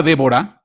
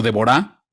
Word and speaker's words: Débora: La palabra Débora, o Débora, como quieras, con el acento en la A al final, dice aquí en el sentido de un movimiento ordenado, abeja.